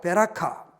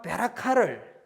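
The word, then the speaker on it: ברכה: 베코라, 베라카 아주 이렇게 발음상 비슷하고 이렇게 알파벳을 보더라도 상당히 닮아 있습니다. 이 베코라와 베라카를 빼앗았다라는 이야기를 합니다.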